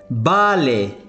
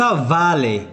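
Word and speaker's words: vale: مثلا نقول بالي، بالي وليس فالي، معناها موافق.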